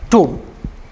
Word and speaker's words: tomb: Womb, tomb. Womb, tomb. Letter B, no, silent.